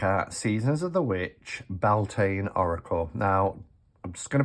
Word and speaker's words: Beltane: put it out there i say beltane i know some people say boltane i've heard people say baltana um it's it's whatever whatever you want to uh however you want to pronounce it is fine but i always say